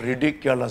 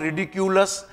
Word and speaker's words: ridiculous: इसके सिनोनिम के रूप में दिया हुआ था रिडिकुलस, तो अब हम लोग रिडिकुलस देखते हैं। प्रोनाउंसिएशन देखिए, इट इज नॉट रिडिकुलस, इट इज रिडिकुलस, और ये भी एडजेक्टिव है।